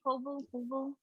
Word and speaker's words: Kobo: Kobo.